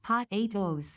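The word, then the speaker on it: Pot8o's: The best horse name is still Patu, pronounced Pot 8 O's.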